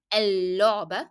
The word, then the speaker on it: اللعبة: So I add L and then I drop the pronunciation of لام because it will be followed by a شدة letter, لام with ضمة. اللعبة. So the لام that you are hearing here is the لام that is coming below شدة, not the لام in the definite article L.